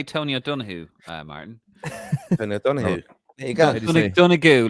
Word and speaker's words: Tony O'Donoghue: Tony O'Donoghue.